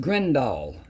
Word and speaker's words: Grindal: Then, let's get into the grindle worms. Now there they're spelled G R I think E, maybe I N D A L. So it's pronounced Grenindall like D O L L.